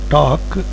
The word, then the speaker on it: talk: In the word talk, the second letter A gives the sound of O, but the letter is only A. Then the third letter L is silent in the word talk.